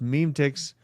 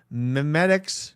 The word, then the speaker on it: memetics: It pronounced meme ticks. Memetics, not meme ticks.